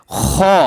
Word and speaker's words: خ: খ। খ অক্ষরটা দেখতে এরকম হার মতোই দেখা যায়। দেখেন, জিম, হা, খ একই রকম।